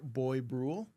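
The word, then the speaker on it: Bois Brule: The I'm going to butcher the pronunci or boy Brule.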